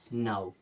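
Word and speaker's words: now: क्या पढ़ते हैं वाउ एओड इसे पढ़ते हैं नाउ क्या पढ़ना है नाउ ये पांच ऐसे वर्ड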